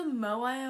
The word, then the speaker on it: Moai: change the champ interesting the tomahawk sweetheart it's pronounced the moai own platform hello everybody my name is